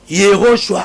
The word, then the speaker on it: Yehoshua: Ba prononcer comme na hébreu. Yehoshua Amashia. Au nom de Yehoshua Amashia.